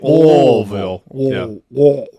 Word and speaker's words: Louisville: Yeah, That's no how they L. pronounce it in Yeah. Kentucky. Louisville.